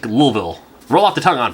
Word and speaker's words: Louisville: I was like in Louisville Louis like Louisville Kentucky no way too many syllables it's El apostropheville like lilville roll off the tongue